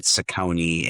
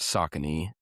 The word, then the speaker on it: Saucony: But at the end of the day, I'm going to have to wear Skechers and Saucony and Asics at some point here in the near future.